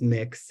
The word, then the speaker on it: Mx: use mix um and that is the correct from what I understand pronunciation per pronounced pronunciation of of MX um so you'd say mix Clemens or you know their last name Mick Smith or whatever um so yeah definitely that's